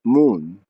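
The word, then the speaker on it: מ״ן: This phrase is usually abbreviated by using the first letter of each of the words, Mem Nun, and is pronounced Moon.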